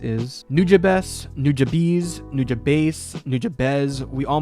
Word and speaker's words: Nujabes: You might have heard that Samurai Champloo came about because Watanabe was a fan of the late and legendary Nujabes.